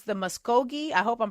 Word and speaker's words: Muscogee: Yeah, you did pronounce it correctly. It's the Muscogi Creek Nation.